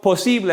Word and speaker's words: posible: some fun today so posible also notice the i is pronounced differently so in english the letters